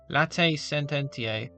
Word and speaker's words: Latae Sententiae: As stated in Motu Proprio, number 5c, Latae Sententiae, that's how you pronounce it, excommunication for schism concerns those who formally adhere to the said schismatic movement.